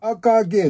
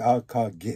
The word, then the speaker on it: AKG: たものですからアーカーゲーのえ AKG って書いてアーカーゲーって読むんですけど 701